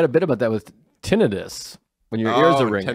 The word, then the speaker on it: tinnitus: Tinnitus. Which people think it's tinnitus, but there's actually an explanation that it is tinnitus. Because tinnitus, like tendinitis, is like inflammation. There's no inflammation. And it's spelt different.